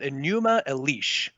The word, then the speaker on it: Enuma Elish: I even looked up pronunciations. I think I'm there, but Enuma Elish.